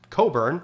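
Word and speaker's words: Cockburn: rear Admiral George Coburn spelled like this but pronounced Coburn and Major General Robert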